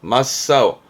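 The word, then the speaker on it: 真っ青: 왜냐하면 앞에가 참 진짜라 이때 발음은 마로 가거든요 그래서 발음은 맛 4호로 가요 아우가 아니에요 맞사오 마싸오다 얼굴이 뭐 세파래진 맞사오나 나 형용사를 쓰게 되는데요 새파라이진 마사오요 발음 때문에 챙길 만한 부분이 되겠습니다 그 청 자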